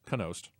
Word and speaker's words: Knost: I've been always pronouncing it Nost. It's Knost. Kind of like canals.